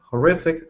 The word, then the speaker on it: horrific: victim of a horri horrific domestic accident. Yeah, that was corrected. Horrific D again just the same as I said for Olympic. Olympic. Horrific. They're the same, aren't they? Three syllables with the middle one.